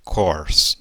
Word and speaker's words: course: E eu gostaria que você reparasse que esse ezinho final também não é pronunciado em inglês, então ele vai embora, ok? Então, a pronúncia ficaria o quê? Course, course, ok?